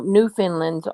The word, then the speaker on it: Newfoundland: back here oh no new finland's on the half hour oh okay still don't know why that's pronounced new finland new found land jane said that's far